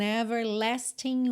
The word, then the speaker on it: everlasting: Aqui, a gente não pronunciou o G de everlasting e repara que a junção de everlasting e words ficou com aquele som nha, nha, como NH em português. Everlasting words, ok?